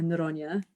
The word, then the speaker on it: Noronha: Our guest today is Attorney General of Rhode Island, Peter Noronha, or Noronha, I think is the Portuguese pronunciation, if I did that correctly. Yes, you did.